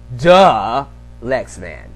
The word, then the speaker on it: Dalyxman: but it's du lexman duh lexman everyone say it with me duh lexman that's how you say it I even say at